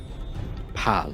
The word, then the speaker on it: Pal: Pal. Pal. P-A-L. Pal. Pal. P-A-L. Pal. Yeah. Well, nice to meet you. The second L is silent.